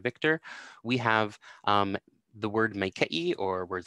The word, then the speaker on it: maikaʻi: So you can hear, you can hear here that it's more of an e sound than an a sound.